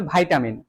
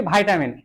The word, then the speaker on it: vitamin: ভিটামিন আর কি এবার এর উচ্চারণটা যদি একটু যারা একটু স্টাইলিশ যারা আছে না যারা সিবিএসসি বোর্ডের স্টুডেন্ট আর কি ঠিক আছে তারা বলে ভাইটামিন ঠিক আছে এটা বলে কি ভাইটামিন এবার এই জিনিসটাই যদি তুমি